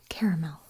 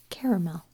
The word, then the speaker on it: caramel: substance and it is caramel caramel like a caramel chocolate bar so when I do put it into a sentence I don't quite emphasise the Mel as much as when I say it alone caramel mm-hmm caramel caramel